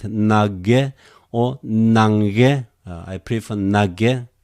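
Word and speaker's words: Ναγγαί: Okay, here are two gammas here. Two gammas together. Some people pronounce nage, simply one gamma. Some people pronounce nange, nange, like English, Well, it's up to you, okay? I just prefer your nage, simply make it simpler.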